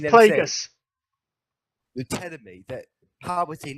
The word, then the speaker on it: Plagueis: Yeah, people are always thinking it's Plagueis, and I've listened to a lot of like the Plagueis novel Plagueis novel, which is obviously set before episode 1.